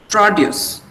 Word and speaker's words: produce: The first syllable is stressed for nouns. Second syllable is stressed for verbs.